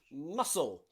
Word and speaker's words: muscle: s sent crescent okay also muscle muscle the c following the s we don't need the c we don't say muscle or crescent we say muscle muscle just pronouncing the s sound now there are cities